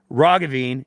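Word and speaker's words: Roggeveen: sorry not Dr John Ravine it's a hard G you'll understand why that's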